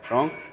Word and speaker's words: Truong: Andrew Truong, is that how you pronounce it? Yeah. Truong, welcome to the Flight Path, my friend.